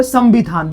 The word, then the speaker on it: संविधान: देखिए इस अनुस्वार का उच्चारण किस में हो रहा है? म में। किस में हो रहा है? म में। संविधान। संविधान। क्योंकि इस बिंदु के बाद क्या दिख रहा है? ब। ब किस में आता है? प में। में और प का पांचवा क्या होता है? म होता है।